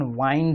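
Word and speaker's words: wind: और इस विंड को विंड नहीं पढ़ते, इस विंड का प्रोनाउंसिएशन वाइंड है, वाइंड। इसको विंड पढ़ते ही नहीं है।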